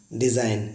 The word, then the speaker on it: design: देखिए साइन डिज़ाइन similar है, एन से पहले जी आया तो हम लोग उसको पढ़ेंगे डिज़ाइन, जी हमारा साइलेंट है।